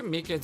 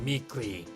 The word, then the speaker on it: Meekins: Actually, Officer Meekins at the detention center told us. That poor little doggy. Poor guy. I keep getting his name wrong and calling him Meekly.